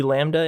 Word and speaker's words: Lambda: an L as well this letter is really cool cuz it has a silent B in it you can see Lambda in a word like